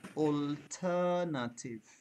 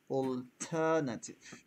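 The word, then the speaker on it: alternative: ইট টু সেলোবল আমি এটাকে যদি ভেঙ্গে ভেঙ্গে উচ্চারণ করি এগেন সেটা হবে ওল থাটিভ অলনাটিভ অলনাটিভ ক্যান ইউ try please sir অল্টারনেটিভ অল্টারনেটিভ exactly অল্টারনেটিভ অল্টারনেটিভ similarly আমরা যখন এই ডাবল এল এটার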